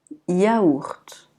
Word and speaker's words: yaourt: Le Y, généralement, il est muet. Donc on va dire yaourt. Yaourt.